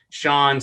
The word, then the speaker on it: Shaughn: pop up and say it's just sean spelled like vaughn with a-u-g-hn and john tillman just